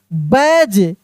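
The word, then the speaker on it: badge: बैज बी ए डी जी ई बैज D silent है।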